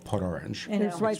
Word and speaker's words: Port Orange: I say it like a local now, by the way, Port Orange.